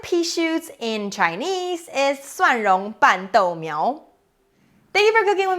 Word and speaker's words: 蒜蓉拌豆苗: The word of the day today is 蒜蓉拌豆苗, garlic tossed pea shoots.